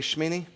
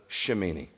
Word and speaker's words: Shemini: Can you say Shmeini? That's eight. Shmeini. Well, you looking at me like I don't know. You didn't know. Shmeini. You don't pronounce the shimini. It's not. That's silent. The e is silent.